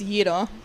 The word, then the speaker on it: gyro: Is it gyro a hero? It's yo. Yo. Yeah, that's the correct pronunciation.